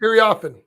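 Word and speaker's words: Iriafen: Offen. Kiki often.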